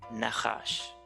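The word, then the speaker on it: נחש: Así se pronuncia serpiente en el hebreo, Nahash.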